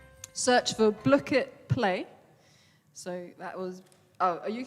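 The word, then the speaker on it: Blooket: and you have like you have to say how ellie says it in a midlands accent block it you spell that b l o o k e t search for block it play so that was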